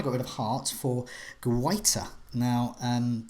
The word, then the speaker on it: Guaita: But I think I've nailed it with Guaita. And I've been on some pronunciation sites. So it's not Guita and it's not Giata. It's Guaita.